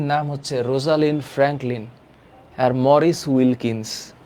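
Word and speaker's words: Maurice Wilkins: sir chromosome chromatin আর chromatid কি আমি আসতেছি মরিস উইলকিন্স আব্দুল্লাহ আল সায়েদ উচ্চারণ হচ্ছে মরিস উইলকিনস আরেকটা হচ্ছে রোজালিন ফ্র্যাঙ্কলিন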